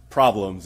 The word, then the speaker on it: PRBLMS: are PR be LM s and it's actually pronounced problems and it was a really popular musical track